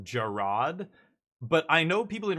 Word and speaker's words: Gerard: ago when uh I guess his name is pronounced Gerard, but I know people in real life called Jared and their name is exactly the same spelling. And so I called him Jared and my buddy's like his name is Gerard